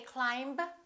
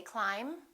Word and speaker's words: climb: silent be bomb climb we don't say climb we say climb debt don't say depth